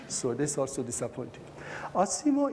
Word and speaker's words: ASIMO: this is also disappointing asimo in japanese is pronounced ashimo which happens to mean